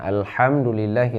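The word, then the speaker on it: الحمد: Yang kedua, kita baca alham ha ya, bukan kha, bukan al-kham, bukan kham tapi ha. Ada ha, ada ha. Ya, ini cara bacanya alhamdulillahi rabbil alamin.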